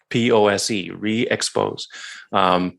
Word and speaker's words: ReeXpose: So it's spelled REE capital XPOSE, ReeXpose. Basically that's branded like Reflex. Reflex is REE Flex.